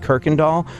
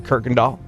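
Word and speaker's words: Kuykendahl: But I just arrived in Houston, and there's this town, there's a street called Kirkendall, but it's spelled like Khuykendaahl or something like that. Yeah. You would never say Kirkendall, but so I was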